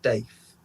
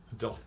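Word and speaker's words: daith: of your ear oh it's actually pronounced doth and not death doth piercing well donna kenneth good five catches you up a bit points to 12.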